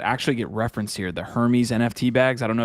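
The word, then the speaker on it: Hermès: this finding that represents Hermes which is dope to see uh I like the way you say Hermes Hermes whatever Hermes yeah dude no but what's called Hermes yeah yeah Ryan's rhymes with herpes so so hey GIF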